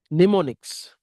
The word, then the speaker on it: mnemonics: This is called the mnemonics. वो M जो है वो क्या रहता है, साइलेंट है।